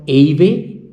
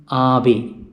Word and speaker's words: Ave: So the first letter is English letter A and it is A in Italian and it is always pronounced in Italian as A. So it is not Ave but it is Ave.